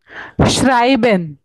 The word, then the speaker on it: schreiben: Ma'am, ish, ma'am, what is the pronunciation of that word? श्राइबन।